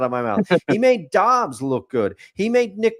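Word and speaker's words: Dobbs: Yeah, Josh Dobs, not DS. I knew it was wrong when it came out of my mouth. He made Dobs look good.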